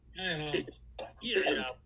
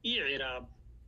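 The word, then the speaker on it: إعراب: ইরাব এটা হলো আই এর পরে হলো আইন আর এ বি, এটা কিভাবে উচ্চারণ করবো আমরা? ইরাব, এ না ই, নট এ, এ না ই, ইরাব, জি ইরাব।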